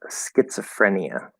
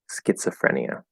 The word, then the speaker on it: schizophrenia: word is pronounced schizophrenia that o after the Z it could be an o sound schizophrenia but we usually say it as a schwa schizophrenia so it's like it's uh so the Z is not a z it's a TS sound because you know it's